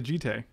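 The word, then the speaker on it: Jitte: I don't think it's one syllable. It's actually Jite. With an accent on the A.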